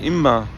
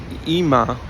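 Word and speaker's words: אמא: So the word imma, I said it with dagesh. I know we don't say it like that. I just it doesn't even sound nice saying it like that. But the point being that the word ima is actually imma with the dagesh chazak in the mem, and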